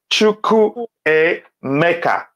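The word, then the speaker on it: Chukwuemeka: Pronounce the A as A. Chukwu Emeka. Pronounce it like that. It will help you.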